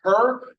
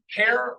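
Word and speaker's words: Herr: first name is is her or something hair is how you say mister in German so hair means Mister sudden brain um so keep that in mind it's not her it's it is AIC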